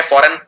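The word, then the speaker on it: foreign: Again इसमें जी आएगा लेकिन बोलने के अंदर जी नहीं आता, जैसे शैंपेन के अंदर था, इसमें भी जी आता है फॉरेन के अंदर।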